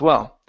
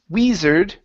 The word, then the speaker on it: wizard: in the middle as well so it's Matthew's father Matthew's father Matthew's father okay very good next is the word wizard instead of we wizard okay give me a short I I wi wizard wizard all right very